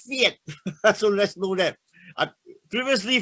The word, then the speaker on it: PHEIC: Now, of course, this is just a legal thing, but Keiji Fukuda tells me it's pronounced Fiat.